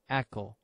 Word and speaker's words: ECO: may be wondering why we called it echo firstly as everybody know eccography is a sound technology like echo so we took the same pronunciation echo like echography for the easy memory